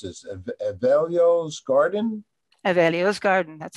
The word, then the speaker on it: Evelio: about you through uh now how do i pronounce this evalio's garden available's garden that's correct oh yes i